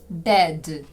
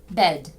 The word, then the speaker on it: bed: цією схильністю треба боротися не оглушуйте дзвінки приголосні в кінці слів вимовляйте їх чітко red red Bed Bed Leg Leg завдання Прочитайте